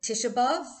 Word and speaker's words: Tisha B'Av: grown up calling it tish above i know my mom did because um she pronounced a lot of uh a lot of the hebrew words with um uh with a yiddish inflection she used to say